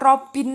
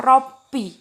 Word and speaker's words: Robbi: Jadi dibacanya bukan Robin lagi, tapi dibacanya Robbi.